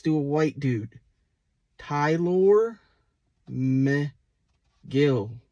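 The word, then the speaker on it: Mejía: a white dude Tyler meh Gill not last one I have is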